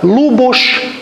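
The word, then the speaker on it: Luboš: esse vizinho em cima essa letra S tem som de ch é o nosso Ch de português ou x Se quiserem também então a pronúncia é correta lubus bem temos uma foto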